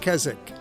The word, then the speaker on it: Keswick: The name is spelled with a W in the middle, which remains silent, so let's call it Keswick.